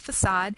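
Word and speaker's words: façade: temples we have our facade looks like fade but it's French so it's pronounced facade which is the front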